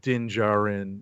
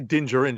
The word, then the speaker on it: Din Djarin: the early part of Din Djarin or Din Djarin's. I want to say Din Djarin just because it feels like it rhymes better. That's fair. But they pronounce it as Din Djarin.